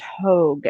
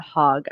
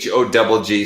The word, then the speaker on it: Hogg: just wanted to say it's pronounced Hogg and not Hogg. I apologize. I really should have said something before this all started. Whoops. Yeah. Sorry about that. But okay, yeah. Sorry, guys. The mispronunciation on the name. It's Hogg, so it's a little deceptive. It's a really common mistake.